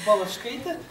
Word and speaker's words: Balachkaite: You were concerned about pronunciation of her last name. It's Balachkaite, and I will not read the title because you have some modifications.